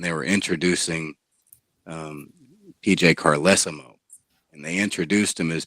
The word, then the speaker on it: Carlesimo: to pronounce my name it's carlesimo right wow sped and it's spelled carlesimo too yeah you know way